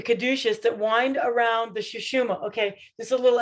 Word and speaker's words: Sushumna: The Sushumna. Yes. Interestingly, in the Sushumna, there's Ida and Pingala. Now, Ida and Pingala are the two serpents that the caduceus that wind around the Sushumna.